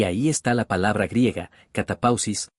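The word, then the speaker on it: κατάπαυσις: Ahora bien, la palabra descanso aquí viene de la palabra griega, que en realidad no sé cómo pronunciar. Pero se pronuncia como si fuera, catapausis, y significa un descanso espiritual del pecado.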